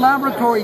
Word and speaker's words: Lab-RAT-ory: had a rat, and I mispronounced it a couple of times. I go, "Oh, it's Lab-RAT-ory," and that stuck.